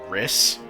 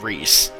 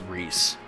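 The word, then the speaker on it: Rhys: with this because I've always called this character riss I've also heard rice and I know that it's actually pronounced Rees um and okay my favorite baseball team has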